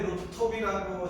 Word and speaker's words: 루프톱: 페더스 목사는 데니스 페더스는 이제 우리 루프탑 왜 루프톱이라고 자꾸 발언하냐, 루프탑 아니냐 이러죠. 우리 요분이나 저나 다 영국 출신이라 우리는 톱으로 발음합니다. 오 발음을 그대로 살리기 때문에 루프톱이 더 편해요. 그래서 양해해 주시고 우리 또 미국 친구 존 웨일리는 루프탑입니다. 미국식으로 루프탑은 뭐 서로 이해하는데 이 양반이 창시자면서 이제